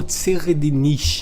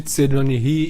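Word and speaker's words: Tserriednich: nome desse cara, mas considerando que é um nome que ele foi feito para ter uma pronúncia alemã, seria algo como Tseredinish, mas todo mundo chama de Tseredonihi e é mais fácil, então vou chamar ele assim, tá bom?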